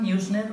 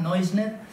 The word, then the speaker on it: Neusner: propósito de Jakob Neusner, algunos lo pronuncian a la inglesa, Neusner, otros a la alemana, Neusner, y su libro Un rabino dialoga con Jesús, que es este que tengo aquí.